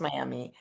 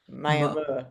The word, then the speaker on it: Miami: I know your hometown is spelled Miami, and I always know it's not Miami. It's not pronounced Miami. That muh at the end. Muh, Muh. Miami. Yeah, that's new for us.